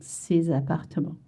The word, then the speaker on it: ces appartements: Ces appartements. This one is tricky. You have to remember you want to link together. Ces appartements. You make a Z sound. Ces appartements.